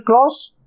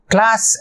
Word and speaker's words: clause: We can say either conditional clause or if clause. Clause அப்படின்னு சொல்லணும், class அப்படின்னு சொல்லக்கூடாது.